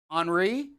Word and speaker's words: Henri: one that they named henri right it's not henry folks it's h-n-h-e-n-r-i uh i had to listen to her to make sure she pronounces his henri so it is henri coming out here it